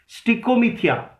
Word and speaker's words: stichomythia: स्टिकोमीथिया लिखिए, STICHOMYTHIA। If you want me to repeat the spelling, you may ask me again. Keep sharing the video. Keep sharing the video so that other students can be here. Stichomythia.